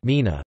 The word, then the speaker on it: gmina: The Mina, Polish pronunciation Mina, plural gminy, min, is the principal unit of the administrative division of Poland, similar to a municipality.